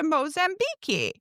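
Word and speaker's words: Moçambique: on a trip to Mozambi." Mozambique, it's pronounced in Portuguese.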